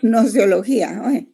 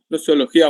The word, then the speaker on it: gnoseología: entre la no Ajá la nosología es que no se no se pronuncia G solo nosología nosología muy bien y solo